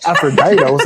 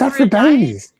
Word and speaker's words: Aphrodites: Man, no one knows how to pronounce that bottle in the tasting room. They're like the Aphroditos? Aphroditos? It's Aphrodites.